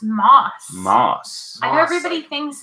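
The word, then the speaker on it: Mauss: Is your name pronounced Moss or Mass? It's Moss. Moss. I know everybody thinks it's Mass, or they think we spelled it wrong.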